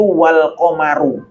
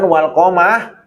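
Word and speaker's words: وَالْقَمَرُ: Ahlul basroh bacanya itu Wal qomaru bukan walqomah bukan wall komaro kalau Ahlul basroh bacanya pakai bir Rover roknya itu roknya itu harokatnya apa dhomah ada Wal qomaru ya jadi qiroatnya beda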